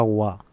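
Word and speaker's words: は: que se habla, y se escribe con el hiragana ha, aunque se pronuncia wa.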